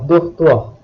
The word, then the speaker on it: dortoir: If a French word begins with C, R, F or L, which are consonants from the word careful, the final letter is usually pronounced. Otherwise, the final letter is silent.